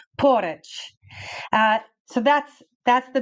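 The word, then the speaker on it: Poreč: of porit porit and it looks like a p o r e c with a little V on top but they say you've got to roll your RS like the Italians and the Spanish so it's porit uh so that's that's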